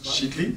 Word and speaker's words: Schittly: donc ça se prononce chitli c'est un peu alsacien ou chitli voilà Alsa chitli donc chitli donc qui est le